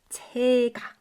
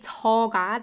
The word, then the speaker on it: 제가: is combined with 가, it has to be spelled and pronounced 제가. So we don't say 저가. This is a grammatically wrong sentence, a wrong way to put it. We instead say 제가.